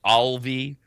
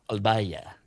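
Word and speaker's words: Alvalle: And there's a brand called we pronounce it Alvi. Uh uh that would be the the American pronunciation. They pronounce it Albaya.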